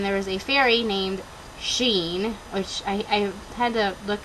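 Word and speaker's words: Sidhean: is a fairy named Sheen, which I had to look on Malinda Lo's website to figure out how to pronounce his name, because it looks like it's like Sidheen, but it's not.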